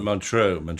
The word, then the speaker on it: Montreux: Oh, Montreux.